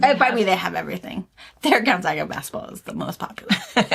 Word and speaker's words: Gonzaga: It's Gonzaga is how you say it.